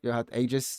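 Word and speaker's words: Aigis: a statue of uh what What's home girl's name agis is that I don't know her name is is that how you say it is that actually her name though yeah it's IAS yeah I'm I'm like going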